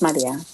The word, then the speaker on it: Maria: So now I'm just like, it's Maria. Yeah. It's Maria. Say it right or don't say it. It's in Spanish.